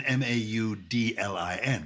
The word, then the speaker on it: Magdalen: So maudlin as an Maudlin. Yes. Now remember, there was confusion between the pronunciations of those. So the Oxford College, Magdalen College, is actually pronounced maudlin.